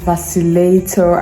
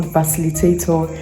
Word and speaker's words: vacillator: some just addicting and it's pronounced vacillator and not facilitator I don't know why